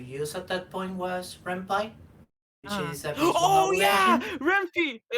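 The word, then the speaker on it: Ren'Py: knew how to use at that point was rampant which is a oh yeah it's it's it's pronounced red pie not rempe it's made in python so yes oh yeah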